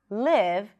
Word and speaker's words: live: to live here, and maybe I will mispronounce the I and pronounce it more like an E sound, neutral E sound, and what I might end up saying is, I'm going to leave here. In my head, I mean live. I want to live here. I love this place. But if I don't pronounce it like this, live, the person listening to me might hear leave.